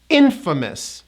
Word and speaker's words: infamous: Well, this word, which means the opposite, is pronounced as infamous. 3 syllables. Infamous. We do not pronounce that A vowel.